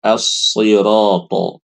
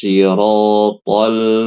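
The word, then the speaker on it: الصِّرَاطَ: Bacaan yang fasih adalah si. Ini yang fasih. Ya. Yang harus ibu hindari bacanya shi. Ini nggak boleh. Ya. Karena banyak yang baca ihdinas syiratal mustaqim. Salah ibu-ibu.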